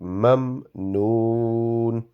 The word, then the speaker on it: ممنون: Again, the meme which has a jazm, the sound should not be prolonged. It will only be mamnoon.